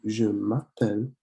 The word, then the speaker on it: je m'appelle: Then you have je m'appelle, link these two sounds together.